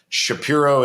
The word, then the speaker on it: Shapiro: to say it and we actually traced it back to sort of the roots of the name to the town of spire in Germany and Shapiro is the correct pronunciation so that's kind of